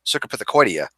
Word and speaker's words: Cercopithecoidea: it up but s actually the the proper pronunciation is cercopithecoidea and I felt really stupid because you know